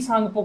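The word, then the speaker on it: Tsangpo: जाना जाता है और इंग्लिश में लिखा जाता है टी साइलेंट र इंग्लिश में है ना टी सांगपो के नाम से भी जाना जाता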